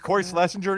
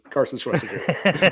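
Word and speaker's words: Carson Schwesinger: Did I say it's Cory Schlesinger even what he said or did I mispronounce it? It's Carson. Carson Schweser.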